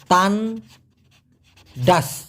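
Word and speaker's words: tandas: টি এন ডি এ এস উচ্চারণটা হবে তান ডাস।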